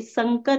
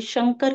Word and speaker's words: शंकर: आघात हो रहा है, तो आप स न बोल के, संकर न बोल के शंकर का उच्चारण कीजिए, जो शुद्ध उच्चारण है।